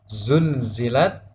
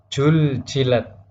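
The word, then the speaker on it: زلزلت: Misalnya pada kata yang seharusnya dibaca zulzilat dibaca juljilat. Nah, itu salah. Jadi huruf za berubah menjadi jim. Zulzilat betul, ketika dibaca juljilat maka salah.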